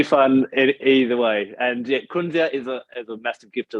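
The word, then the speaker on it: kunzea: It's known as kunzia.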